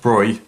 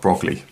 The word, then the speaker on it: de Broglie: was louis de bruy just be aware that his name is pronounced broy not not broccoli okay and what he